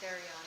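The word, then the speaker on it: θηρίον: It's Therion, by the way. Therion, thank you.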